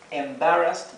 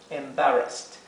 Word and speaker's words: embarrassed: caso embarazoso o vergonzoso embarrassed y traten de pronunciar la r embarras embarrassed y aquí fíjense que tenemos una doble s Sí por eso se pronuncia como la s suave embarrass si tuviéramos una